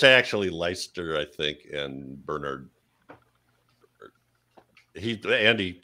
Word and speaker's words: Leicester: for 70s urban horror fans and you say lychester and bernard just as i'd hoped lovely oh i guess we're doing it wrong oh well yeah it's actually leicester i think and bernard andy keeps us honest